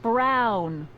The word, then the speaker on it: Brown: Emmett Brown. Rhymes with clown, which I'm beginning to think you are.